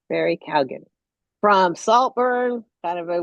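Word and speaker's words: Keoghan: Uh Barry, and I just looked up how you pronounce his last name. Barry Kalan. That's how you say his last name. Barry Calgan from Saltburn.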